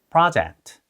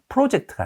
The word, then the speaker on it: project: 여기서는 프로젝트가 아니라 Project. project. O보다는 아 발음에 가깝다는 거 기억하면서 따라해 볼게요.